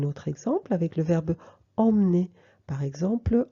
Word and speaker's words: emmener: E muet, on le mange entre deux consonnes. Emmener.